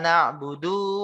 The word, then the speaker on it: na'budu: Iyyaka na'budu wa iyyaka nasta'in. Ana ulang. Iyyaka na'budu wa iyyaka nasta'in. Na'budu, dunya jadi panjang, Pak. Padahal seharusnya gimana bacanya? Iyyaka na'budu wa iyyaka nasta'in. Dunya pendek harusnya.